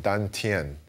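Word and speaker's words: 丹田: Now, in Chinese, this is called dan tian, and in the Korean pronunciation, that's dan chan.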